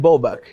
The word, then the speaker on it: Bobach: So we're here with Bobach. It's like that. That's the better way to pronounce it.